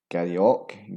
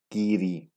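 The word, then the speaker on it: Garioch: This has an insane amount of mispronunciations. Garryock, Garryock, Garroic, and Garryock. The real pronunciation is Geary.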